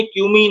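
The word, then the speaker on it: cumin: Actually कमीन नहीं है, क्यूमीन है, थोड़ा स्पेलिंग मिस्टेक है बुक में।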